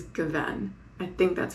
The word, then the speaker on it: gewesen: I have problems with emphasizing the correct syllable. he corrected my pronunciation of, I think the correct way to say it is gewesen.